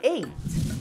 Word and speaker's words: ate: Bom, a primeira palavra é o passado de comer e o número 8, que tem a mesma pronúncia. Então, eat é o presente, comer, e o passado é ate.